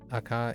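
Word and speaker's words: 赤: sort of Alias for red that's why it's pronounced AKA in Japanese AK red akachan yeah that's another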